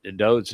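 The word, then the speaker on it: דוד: If you're unfamiliar with that pronunciation, the fact is that Dode's name is written as DWD, Deleth, Wa Deleth. Every time that anything is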